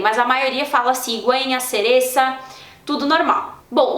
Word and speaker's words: cereza: cigüeña e cereza, beleza, mas é na Espanha que o C seguido de I e de E tem esse som parecido, esse som como o do Z, que é pronunciado na Espanha, que é aquele, então, né, tipo TH do inglês.